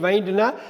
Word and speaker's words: wind: அப்போ WINDங்கிற வார்த்தைக்கு ரெண்டு உச்சரிப்பு இருக்குது, ரெண்டு மீனிங் இருக்குது. ஒன்று வந்து விண்டு காற்று, இன்னொன்று வைண்டு திருகிறது இல்லை கட்டுறது.